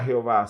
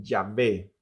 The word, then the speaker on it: Yahvé: De ahí que surgiría la idea o el punto de vista de que la mejor forma de pronunciar el nombre de Dios no era Jehová, sino que Yahwé o Yahvé.